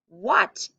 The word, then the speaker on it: what: how to spell that what is spelled w-h-a-t now it doesn't sound go ahead and look at me real quick before you write it doesn't sound like you can hear the h or the a it sounds like w-u-t